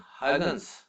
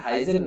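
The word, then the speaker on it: Huygens: इसमें Dutch language में इसको होता है हॉगन्स, हॉगन्स, है ना। बट हमारे लिए ठीक है कि हम इसको हाइगन बोल रहे हैं इंडिया में, तो ये चल जाएगा, प्रोनाउंसिएशन में कोई बड़ा इशू नहीं है। दिस इज हाइगन, बट हाइजन नहीं है ना।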